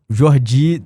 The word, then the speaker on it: Jordi: Até falava com o Thiago, ele falou: "Ah, pô, o meu orientador é o Jordi na pronúncia correta".